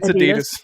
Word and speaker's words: Adidas: we say Ad Adas no no Adidas it's Adidas thank you thank you um celebrating two months of membership let's go thank you for two months amazing yeah much love to Adidas man another one of our great supporters yo